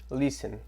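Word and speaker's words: listen: ois começa dizendo aqui len e a o El responde Bora lá aqui gente Len significa ouç l a pronúncia a gente vai não vai pronunciar o t então não l vocês para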